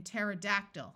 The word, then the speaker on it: pterodactyl: c and in Psalms when a word starts with PT the P will also be silent like in pterodactyl which was a type of flying dinosaur words starting with PN